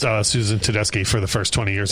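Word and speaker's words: Tedeschi: like could you stop saying that it's Tedeski and then I heard when the Tedeski trucks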